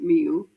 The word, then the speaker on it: Millau: Kind of part of that journey led me to a place called Millau, pronounced Miu, locally, where I completely fell in love with the landscape.